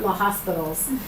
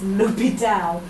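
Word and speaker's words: L'Hôpital: when we talk about lital that's pronounced not La hospitals it's lital um and we're going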